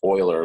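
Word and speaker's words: Euler: is an Oiler path this is pronounced Oiler like someone who harvests oil even though it's spelled weird an Oiler path is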